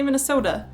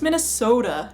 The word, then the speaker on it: Minnesota: pronounced AUM not autum T's tend to turn into D's here Minnesota it has a t a at the end but we still say Minnesota uh not Minnesota it's Minnesota not Minnesota we always